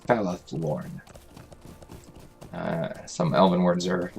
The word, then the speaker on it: Falathlorn: Falathlorn. Some elven words are a little tricky to pronounce.